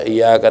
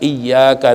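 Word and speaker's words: إِيَّاكَ: Jangan lempeng aja, iyyaka na'budu wa iyyaka nasta'in. Nggak boleh. Ya, paling tidak iyyaka na'budu wa iyyaka nasta'in.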